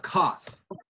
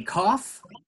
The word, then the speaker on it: cough: la palabra como reír ejemplos de palabras en que gh es una F no es super común